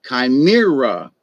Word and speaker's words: chimera: with animal parts like chimera c-h-i-m-e-r-a chimera or anyway it's ch but it's pronounced pronounced kai where some people will